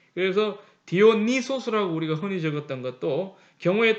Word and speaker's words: 디오니소스: 그리고 옛날에는 이 또 디오니소스뿐만 아니라 이게 이 입실론이 유 발음이 나요. 우 발음이.